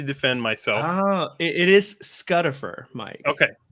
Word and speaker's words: Scutifer: you call him how do you pronounce giraffe do you say GFF I say giraffe vowels and consonants are not the same thing I say Lucifer I feel like I just had a bad V movement on camera Rhymes it rhymes with it rhymes with butt scut we're gonna fight it's